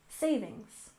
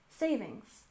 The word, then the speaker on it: savings: we have savings account we stress the first syllable in savings savings savings and account we stress